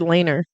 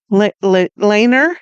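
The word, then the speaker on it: Leiner: We said Laner. Laner. Yes. I tried to write it in, you know, phonetically.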